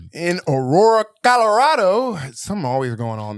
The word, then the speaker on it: Aurora: I can pronounce Aurora. You can. Oh, yeah. Wait, I forgot what word I said that I up. You said Auroro.